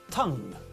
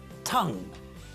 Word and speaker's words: tongue: and listen to me as I say it tongue tongue listen again Tong Tong Tong so although Hungarian